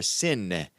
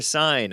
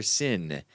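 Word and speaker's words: Seine: down the city's famous river sin it's not river sign I was pronouncing it wrong river sin s i n e on boats the festival on the water will begin oh 7:30 p.m.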